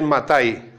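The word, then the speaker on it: מתי: vas en hebreo, lees Matai. El Evangelio en hebreo, el Evangelio no es Mateo, es Matai.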